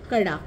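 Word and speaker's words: Kara: point आहे अवध आणि हा पॉईंट आहे करा कडा त्याला हिंदीमध्ये बोलताना कडा बोलतात पण स्पेलिंग आहे करा ओके सो परत सांगते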